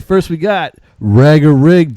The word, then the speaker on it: Rager: Yeah, it's actually pronounced Rager. Everyone usually says Rager, which, I mean, it does sound cooler, but no, just Rager.